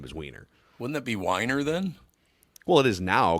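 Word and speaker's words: Winer: ESPN anchor uh named it's Matt Wier is how you pronounce it but but you know on the screen it would be we i n r and he would pronounce it Wier but we all know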